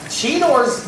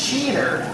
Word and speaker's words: Cheetor: I immediately noticed was Cheetor's name was being pronounced Cheater. What was up with that? That was strange. Well, because we're Canadian, right? It is, well, it's Cheetor.